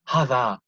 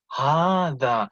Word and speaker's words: هذا: Now, if you look on the ha, it's not هذا, not هذا. If you hear me pronounce it, هذا.